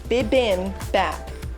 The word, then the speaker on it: bibimbap: out the settlement of the conversation it is pronounced bibim bap bibimbap okay it's on the bottle so i